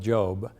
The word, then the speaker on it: Job: The biblical book of Job (pronounced with a hard “o” sound) is immensely popular, one often quoted on solemn occasions.